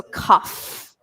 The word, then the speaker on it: cough: ation that oae ugh it makes a F sound okay so cough cough what I always say is the pronunciation is just like the start of coffee so it's like coffee